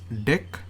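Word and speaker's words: deque: not the D I would have mentioned as DQ operation it's not the DQ operation it's basically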